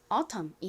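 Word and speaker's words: autumn: 하지만 한국식 표기로는 주로 aut이 쓰여요.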